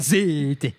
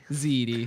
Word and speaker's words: ziti: Zite. That's not how you say it. Zite. Ziti.